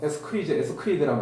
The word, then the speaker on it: ascarid: 예, 여기 이제 발음은 에스크리드라는 말 쓰는데요.